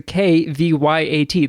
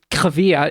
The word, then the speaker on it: Kvyat: But in motorsport, there's a guy named Daniil Kvyat, and he has a K-V-Y-A-T. That Kvyat is how it's pronounced, so it's kind of like Kvyat.